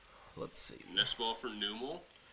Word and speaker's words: Numel: Nest ball for Numel. I think it's supposed to be pronounced Nummel, right? Nummel.